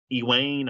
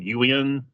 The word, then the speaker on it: Ewain: He plays Ewain. I always say it wrong. Ewan.